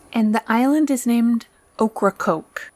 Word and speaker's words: Ocracoke: island is named Ocracoke Ocracoke yep I did check this pronunciation of that failed to prep you before the evening but you got it right well it sounds like okra and coke pretty much pretty much I think